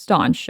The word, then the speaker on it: stanch: It's spelled stanch, but it's pronounced staunch.